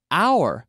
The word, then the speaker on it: hour: And this is our hour. Nuestra hora. Our hour. Con la misma pronunciación, our hour, nuestra hora.